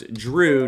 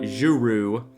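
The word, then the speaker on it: Jrue: five games and not so it's drew not guru so we got over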